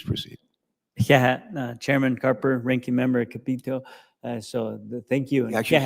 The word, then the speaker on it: Capito: chairman Carper ranking member capito so thank you believe or not she pronounces it Capo Capo Capo yes Capo okay I'm sure your name